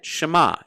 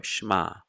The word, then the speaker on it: Shema: an e s-h-e-m-a for schma it's short but it is pronounced the second example is